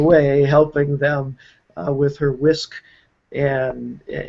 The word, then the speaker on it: WSQ: Even though it's pronounced whisk, it's WSQ. And it's just a simple